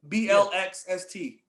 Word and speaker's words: Blxst: His name is Black. Spell it with an X. BLXST.